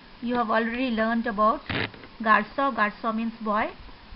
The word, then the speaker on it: garçon: You can see garçon. You have already learned about garçon. Garçon means boy. C is pronounced as S.